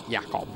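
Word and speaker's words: Jakub: In Australia, we call him Jacob. Right, okay. In America, you'd call him Jacob. Pronounce the J. It's a J. Okay. Jakob. Okay, we're not in those countries at the moment, so we'll go with Jakob.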